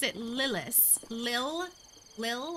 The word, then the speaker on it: Lilas: to say it like i say it it's lilis um but like i said everyone pronounces it a lot of people say lie less most people who don't know me or have